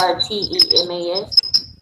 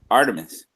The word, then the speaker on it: Artemis: I'm not 100% sure if I'm pronouncing it right, but it's Artemas. Artemis.